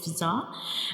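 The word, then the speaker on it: ز: This is the structure of Zaha and Zaha has only one dot. It is also called a whistle letter because when we pronounce zah the whistle like sound comes like zah.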